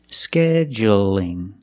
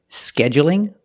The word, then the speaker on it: scheduling: But when I say scheduling, is it dark or light? That's right, it's light because the L is between vowels. Scheduling. So you can say scheduling with the stress on